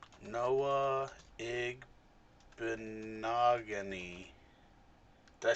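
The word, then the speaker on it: Igbinoghene: getting them from the Bears right no uh egg benogony did I say his name right yes big monogamy I said it a lot slower than you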